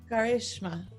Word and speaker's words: Karishma: Karishma.